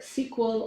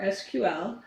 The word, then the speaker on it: SQL: Structured query language, pronounced as either SQL or SQL.